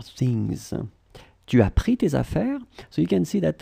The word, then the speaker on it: affaires: plural form, so for affaires, your things, okay? So because it's plural, so first we will put the S at the end of affaires, you don't pronounce it.